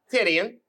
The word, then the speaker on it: Titian: His name is spelled T-I-T-I-A-N.